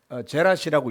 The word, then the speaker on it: 제라시: 요즘 표현으로는 제라시라고 읽어요. 제라시. 거라사, 제라사, 제라시 비슷하죠.